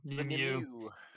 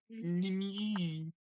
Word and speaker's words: Nimue: Lady Gwen and Nimway of Avalon, which no one would ever pronounce Nimway that way looking at the way it's spelled because it's Welsh. Everybody. Yeah. Yeah. Nimu. Nimu.